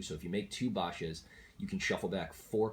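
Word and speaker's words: Baxia: of the Yang's in a lot of people pronounce it back sia but it's actually suppose it's a chinese name so from supposed to be pronounced Basha basically you have to have this car 23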